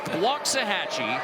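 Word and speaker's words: Waxahachie: CJ Nolan 64 from wachi Texas pronounce that oh close close waah hatchee okay which is the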